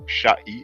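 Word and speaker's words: šꜥy: So we have the sh, we have the ayin, which looks like a lowercase c, and we have the y, so that's the sound e. So sha'i, and e told us sand.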